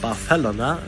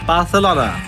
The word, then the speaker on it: Barcelona: that after visiting Barcelona which by the way is pronounced barela by it Denison barela not Barcelona as you might think after this short